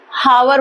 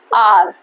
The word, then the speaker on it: hour: बताती हूँ मैं आपको, उसका प्रोनाउंसिएशन गलत करते हैं, HOUR। क्या है ये, हावर बोलते हैं इसको। हावर जैसे ही बोला तो ए हावर हो जाता है, तो वो गलत हो जाता है। The right one is that आर, HOUR। इसका प्रोनाउंसिएशन भी क्या है, आर।